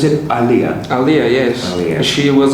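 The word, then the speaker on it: Aaliyah: Well, thanks for talking to me about how do I pronounce it? Aliyah.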